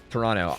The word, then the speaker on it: Toronto: Toronto. I pronounced the T, so.